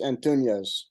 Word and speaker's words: Antunes: It's Antunes. Okay, good. I just want to make sure I was saying it right because there's not an Enya in there.